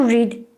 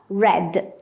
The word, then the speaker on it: read: to come came to read read to bring brought please notice to read and read we write in the same way but we pronounce differently to read but in the past read as you see i